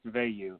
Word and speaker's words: Veilleux: and that's okay uh it's pronounced V but you are one